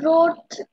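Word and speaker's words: wrote: No miss, হচ্ছে যে এখানে এটা হচ্ছে রোড, ডব্লিউ আর ও টি ই, এই এই বানানটা উচ্চারণটা আমি বুঝতে পারি। রোড হবে বাবা, রোড, এই যে এই মাত্র তুমি বললে ওইটাই হবে।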